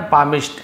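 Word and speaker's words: palmist: यहां पर भी है ना, पामिस्ट ऐसे पढ़ेंगे, पाल्म नहीं पढ़े, पाम पढ़ते तो एल साइलेंट होता है, पामिस्ट।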